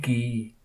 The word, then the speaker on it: Guy: Guy Ritchie GUI and the French pronunciation of the name guy is gay right so there's a